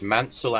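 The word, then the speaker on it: Maunsell: So the so the easy way to remember it is as bullied himself said you pronounce manel as in cancel and you pronounce bullied as in succeed right.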